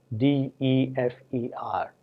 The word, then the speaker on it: defer: differ, D-I-F-F-E-R, and defer, D-E-F-E-R, with two different meanings. Whereas one, differ, is stressed on the first syllable, defer is stressed on the second syllable.